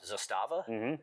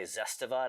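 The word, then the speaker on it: Zastava: Zustava. Zustava. Some people say Zestiva. That sounds like body wash. I think it's more like a Zustava.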